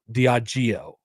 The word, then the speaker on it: Diageo: Diageo is how you pronounce That's incredibly hard to say.